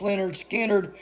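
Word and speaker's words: Lynyrd Skynyrd: it was the last song they recorded on pronounced Leonard Skinner and the guys that were doing the recording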